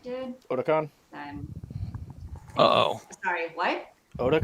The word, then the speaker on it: Otakon: Yeah, I mean, as long as we don't do it the same way as OtakuCon did, Otakon? then Uh-oh. sorry, what? Otakon? That's how you pronounce it?